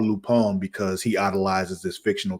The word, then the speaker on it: Lupin: show on Netflix uh lupon it's spelled Lupin but it's French so it's lupon l u p i